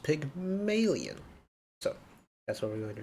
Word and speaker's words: Pygmalion: p now I think I've been calling it Pygmalion all throughout DMV I've now realized that it's pronounced Pig million that's what we're going to call it today